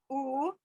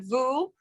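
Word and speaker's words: וּ: And again, at the end, at the bottom of the page, when the vav is sometimes written as a u, it's pronounced u, not vu.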